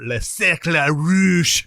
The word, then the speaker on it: Le Cercle Rouge: I watched Army of Shadows, which is really good, and The Red Circle, or Le Cercle Rouge. Ooh. That's the exact French. That is. pronunciation. That's how they say it.